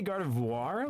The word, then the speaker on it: Gardevoir: Chad, do you guys say Gardevoir? Like voir? Cuz like that I think is how the the p uh pronunciation in French more is. So I'm probably still butchering it even though I took French. Or do you say guard? Cuz I've always said like vore, but I think it's